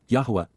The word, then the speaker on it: Yahowah: Revelation and understanding we now know but W yahwah yahwah the proper pronunciation of the name of eloah God as